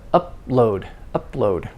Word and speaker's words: upload: So of course the P, you don't release the air because it's before another consonant, but upload. The two consonants are distinct.